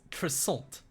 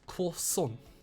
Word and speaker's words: croissant: None, my little friend. It's croissant. You say it like this. Croissant. Weird. No one says it like that. Trust me, that's the proper way.